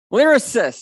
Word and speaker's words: Lyrasis: from crap i have never learned how to pronounce thoracist lyrasis lyrasis okay i have just learned that uh blake carver thank